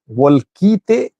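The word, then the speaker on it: Wolkite: What is the correct pronunciation of the city in Gurage? Volkite, because Volkayat is that which is in western zone, Humera Volkayat Sagad.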